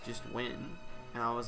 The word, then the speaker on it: Nguyen: Nguyen, I think. It's like pronounced Nguyen, or just Win.